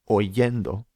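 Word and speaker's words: oyendo: So we're left with o and we add the ending yendo. So we get oendo. Oendo. And the spelling reflects this. This is it's spelled o y e n d o not o i e e n d o.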